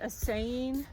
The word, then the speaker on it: assaying: my name and are assaying to be my saints. Do you guys know what that means, assaying? How do you spell it? Like essay.